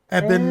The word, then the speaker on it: Ebon: Eban as in like ebony. Ebony. Got it. Gotcha. I didn't have it spelled that way either. Now we do. Nice. All right, let's go to the eb and thread.